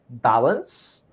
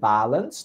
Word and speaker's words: balance: and pronunciation issues okay the word balance is stressed in the first syllable balance not balance you said balance balance